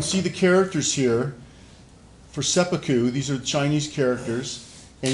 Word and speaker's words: seppuku: out the word sepu and it would be pronounced sepu but if you're just talking to somebody you